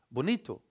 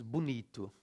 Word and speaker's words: bonito: Whereas in Brazilian Portuguese, Portugal é país bonito. The O becomes U, okay? We write bonito, but we pronounce bonito.